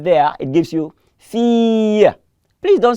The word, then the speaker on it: fille: The word here, fille, is not fille. Please, say fille. The I-L-L-E there is E.